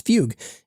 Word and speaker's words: Fugue: the CEO of f though he pronounces it as Fugue and it makes some